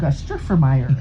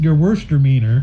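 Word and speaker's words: Gewürztraminer: Gustrifyer. It's actually pronounced ger worst deer meaner.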